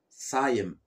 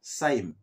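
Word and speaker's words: صايم: Ana Saïm ou Ana Saïm, selon les régions. Il y en a qui ajoutent un petit E après le Y qui disent Saïm. D'accord. Mais le plus standard, c'est Ana Saïm.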